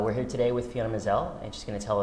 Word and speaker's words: Maazel: pronounced fiona mizelle right mizelle rhymes with gazelle yeah you'll never forget it uh we're here today with fiona mazzell and she's going to